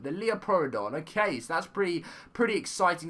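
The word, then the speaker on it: Liopleurodon: This is how you pronounce it, the Leoplerodon. The Leoplerodon.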